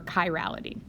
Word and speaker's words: chirality: CH I extends or it comes from Greek the Greek letter Chi and so you would pronounce this Chi Rho chiral okay or chirality okay so to introduce